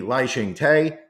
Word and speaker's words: Lai Ching-te: That would be Hu Yu-yi, that would be Ko Wen-je, that would be Lai Ching-te, and that would be Tsai Ing-wen.